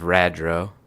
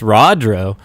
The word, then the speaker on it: Rodro: plot point rodro yeah you say actually it's it's rodro i've got it i'll